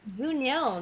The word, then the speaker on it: Juniel: Janelle, okay. You're a bat. Janelle, you're a bat right now. How can you say Janelle? It's Juniel. You say his name wrong.